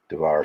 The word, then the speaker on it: Tavares: Tavares is the correct way to say it.